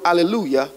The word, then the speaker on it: hallelujah: In the book of Psalm, many times we pronounce the word hallelujah with a J, but it really should be pronounced with a Y.